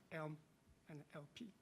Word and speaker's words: ELM-LP: So the first 3 letters, which is pronounced as ELM and LP.